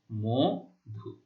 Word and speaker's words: মধু: তাহলে আদ্য অ এর পরে যদি উ ধ্বনি থাকে, নিয়ম অনুযায়ী কি হবে, আদ্য অ এর উচ্চারণ ও এর মতো হবে, অর্থাৎ আমরা ম এর সাথে যে অ রয়েছে তাকে ও বৎ উচ্চারণ করলে বা ও এর মতো উচ্চারণ করলে এটা কেমন হয়? ম ওকার হয়, মধু।